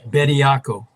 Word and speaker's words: Bioca: The Charles, how do you say it? Bioca Byako.